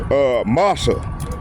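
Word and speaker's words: משא: In the Hebrew, burden means, is pronounced masa.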